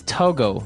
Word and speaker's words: Togo: So it's Togo. That's the way you pronounce it because if you look at it, I would say to go, right? But it's not to go, it's togo.